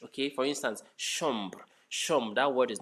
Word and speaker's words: chambre: Okay, in French, CH is pronounced as sh, not cha, not cha. CH in French is sh. Okay, for instance, chambre, chambre.